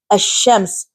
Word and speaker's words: الشمس: And we learned that if alif and lam are prefixed to any one of the Shamsi letters, the letter lam is assimilated in the Shamsi letter, and therefore lam is not pronounced. And the example is ash-shams. So there is alif, lam, sheen, but lam is not pronounced. Ash-shams.